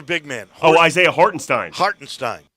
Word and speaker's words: Hartenstein: man oh Isaiah hortenstein hartenstein hartenstein I think is how it's pronounced very German hartenstein hartenstein goes down